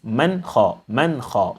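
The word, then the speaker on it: مَنْ خَفَّتْ: Man kha. The silent sound of the noon must be heard clearly. Man kha. You cannot say man kha or man kha.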